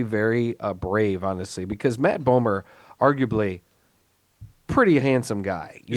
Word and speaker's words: Bomer: it's also got Matt Bomer, who I've always liked from I like think it's Bomer. is it Bomer? I thought it was I think Bomber. it's Bomer. It's- No, I think it's pronounced Bomer.